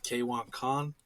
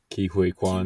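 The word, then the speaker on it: Ke Huy Quan: Surprisingly, the main character, freaking I don't even know how to say his name, K1 Khan. Ki Hui Kwan.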